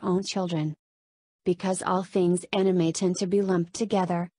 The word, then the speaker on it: anime: what is anime the word anime pronounced anima is an abbreviation of